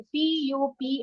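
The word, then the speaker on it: pupils: पर दिख रही है पी य पी आई एल S pronunciation है प्यूप पूरा यू का साउंड आ रहा है आई का साउंड आ रहा है प्यूप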